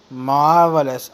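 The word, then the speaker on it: marvellous: मार्वलस, are silent है, आर को मत पढ़ना।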